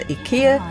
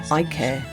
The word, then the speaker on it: IKEA: We're heading to see my mum in Southport, and as always we take the opportunity to pop into IKEA or iCare, depending on how you say it, to take a look around with all the house improvements that we've got going on.